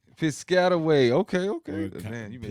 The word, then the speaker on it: Piscataway: Tasha out of New Jersey, because I'm not about to mispronounce that city. Piscataway. Piscataway. Okay. Or Man, you made it sound. Piscataway.